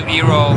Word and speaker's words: Iroh: It was just that, you know, Eero is basically a little more foreign, because Iroh is a more American way of pronouncing, and it was just a preference to give that, you know, give that feel to the character.